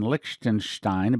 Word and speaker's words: Liechtenstein: freemason sources they're asking for a conference in liechtenstein by the way that's how you pronounce it soon the reason for this is